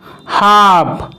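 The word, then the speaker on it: half: যেমন কাভ, কাভ, হাফ, হাফ, সাভ, সাভ এই সবকটি ওয়ার্ডেই কিন্তু এল লেটারটির কোনো উচ্চারণ করা হচ্ছে না।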